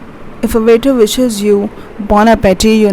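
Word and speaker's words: bon appétit: The third one, BONAPPETIT. It might sound you as bon appetit, but it's not. It's pronounced as bon appetit.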